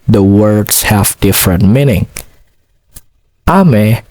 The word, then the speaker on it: 雨: Ame has two syllables. The first syllable is a and the second syllable is me.